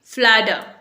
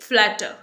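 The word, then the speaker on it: flatter: फ्लैटर, American English में इसे बोलेंगे फ्लैडर। यहां पर टी जो है डी का साउंड देगा, ओके, फ्लैडर। और अगर आप ब्रिटिश इंग्लिश बोलना चाहेंगे तब आप इसे बोलेंगे फ्लैटर। फ्लैटर, तब आप आर प्रोनाउंस नहीं करेंगे, ओके।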